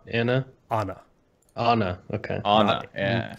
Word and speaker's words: Ana: it be known that it is Anna as the proper pronunciation all right there she